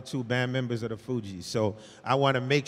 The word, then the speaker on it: Fugees: Fugees. Yeah, like refugees.